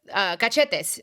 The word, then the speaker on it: cachetes: Cachetes, cheeks.